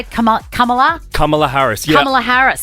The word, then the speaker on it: Kamala: President Biden has stepped aside out of the race for president and has said, vote for Kamala. Is that how you say it? Kamala?